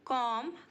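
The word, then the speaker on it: comb: hanging wires बाल बनाना कॉम कमड कमड यहां पर हमारा बी साइलेंट है मैं तुम्हारे बालों में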